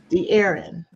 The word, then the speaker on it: De'Aarron: me make sure I have your name correct the Aaron correct correct here we go okay because sometimes you know you want to pronounce it just right because people butcher my